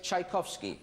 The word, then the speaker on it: Tchaikovsky: Are you talking about Peter Ilyich Tchaikovsky?